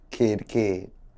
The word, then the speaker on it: Kidd: Just think of two children, kid.